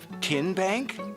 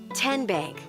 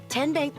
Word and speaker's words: TNBank: How do you say the name TNBank? Nope. Tin Bank? Uh-uh. So, what is it? Ten Bank. Ten, as in Tennessee, right here where all our banking decisions are made.